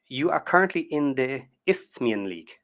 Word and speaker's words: Isthmian: So then, okay, you are currently in the Isthmian League. How do you pronounce it?